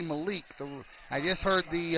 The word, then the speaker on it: Malik: four yard Malik Walker I was saying Malik it's actually Malik the I just heard